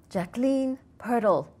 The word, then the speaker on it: Jacqueline Pirtle: And I'm excited to have as my guest today an energy healer and happiness coach, Jacqueline Pertl.